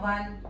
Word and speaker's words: won: Okay, and please pronounce it as won. Not won. Okay, the way we pronounce O-N-E one, the same way we pronounce W-A-N one.